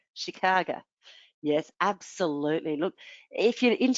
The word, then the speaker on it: Chicago: Ah, Chicago or Chicago, they say. That's what the locals say, Chicago.